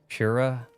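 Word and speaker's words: Purah: Use a half R roll like Japanese pronunciation. Pura pur pura.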